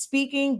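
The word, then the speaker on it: Spinking: honestly speaking just like our product line it's pronounced speaking but it's spelled speaking or was like with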